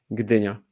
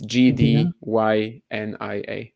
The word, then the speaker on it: Gdynia: How do you pronounce it? Gdynia. It's Gdynia. Is the G silent? No. Oh no, do you say the G?